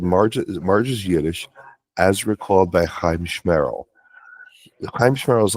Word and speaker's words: Chiamschmerril: If you bring up a loogie when you say it, you're doing it right. If you got to wipe down somebody else's hat, just said it right.